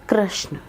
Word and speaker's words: कृष्ण: एच एन ए जबक कृष्ण का नाम ऐसे नहीं था इट वाज के आर एस एच N okay it वास कृष्ण इट वाज नॉट कृष्णा ये तो बनते बनते